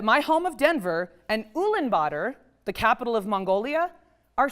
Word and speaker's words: Ulaanbaatar: U-l-a-a-n- b-a-a-t-a-r. Ulaanbaatar rhymes with daughter: that’s how I remember it.